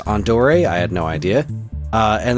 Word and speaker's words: Andor: And then I'm like, all right, there's Andor, although apparently that's pronounced Andore.